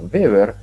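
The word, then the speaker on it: Weber: al electromagnetismo y beber la W en alemán se pronuncia como corta beber en 1835 es el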